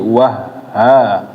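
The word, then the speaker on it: وهّاجا: Perhatikan haknya ada tasydidnya, jadi wah ha. Wa ja'alna sirajan wahada. Wah ha. Masuk ke ha-nya, jadi kayak masuk wa-nya masuk ke ha.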